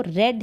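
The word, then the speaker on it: read: मस्त बी के बाद ये जो रेड है इसको रेड पढ़ेंगे और ये क की थर्ड फॉर्म है रीड रेड रेड इस तरीके से स्पेलिंग से है प्रनंसीएशन चेंज हो जाएगा यहां पर फिर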